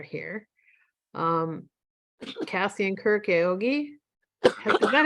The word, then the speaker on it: Aoyagi: of them are here um Cassie and Kirk Yogi is that how you say your name I hope it's the right pronunciation awiyagi oyagi yeah yeah Kirk and Cassie oyagi and Daniel